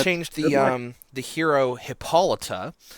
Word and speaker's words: Hippolyta: a couple of times it is pronounced hippolyta okay so you can